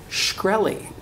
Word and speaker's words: Shkreli: It rhymes with pork belly. What? Martin. What? Martin Shkreli.